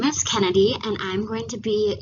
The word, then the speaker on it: Cennidie: all as i said my name is kennedy um however it is not spelt the way most people think it is um it's spelled with ac um i've heard every